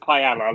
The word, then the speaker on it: Pajala: border but it's pronounced kaella like the Spanish rice dish um it's about three